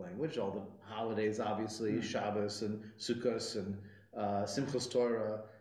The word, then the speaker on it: Shabbos: in Yiddish pronunciation it's Shabbos with a softer sound and the emphasis is on the second to last syllable or Sukkot because but